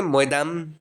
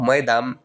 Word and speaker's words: Maidam: मैं जो word use कर रहा हूँ मोइदम, ये एक अहोम टाइप वर्ड है जिसका स्पेलिंग है MAIDAM। मई का अर्थ होता है